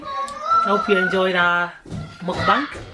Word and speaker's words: mukbang: It took me a while before I could pronounce this. Do you know why? Mukbang. Yeah, mukbang. No, it's not bank. That's because I like Easy money. bank. Mukbang. Whatever bang it is, it's muk, you know.